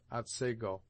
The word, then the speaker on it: Otsego: Thus the scene of this tale is spelt Otsego, and is properly pronounced Otsego.